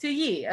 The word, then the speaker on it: Toyi: It's two Yi, like the number 2 and then Yi. Okay, Toyi.